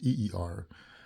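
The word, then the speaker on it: עיר: is e r so it's written as i y r but is pronounced eer and it pertains to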